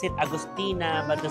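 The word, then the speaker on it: Augustiner: So this is how how you pronounce it Agustina but the spelling is Agustiner. So Agostina.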